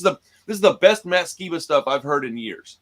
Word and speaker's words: Matt Skiba: what this is the this is the best Matt skiba stuff I've heard in years is what I felt that's what I felt that's the proper way to say it this is the best masciba stuff that I've heard in a long long